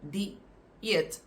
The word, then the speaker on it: dieet: And the singular form, dieet, is pronounced like that. You pronounce the first part with the I, di, and then the word eet.